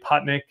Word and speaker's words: Patnik: Patnik. Did I say it right? Close. Say it the right way. Patnik.